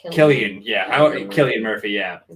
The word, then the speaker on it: Cillian: Isn't it pronounced Killian?